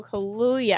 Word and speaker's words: Kaluuya: it no but uh daniel kaluuya i think is how you say his name he's awesome yeah the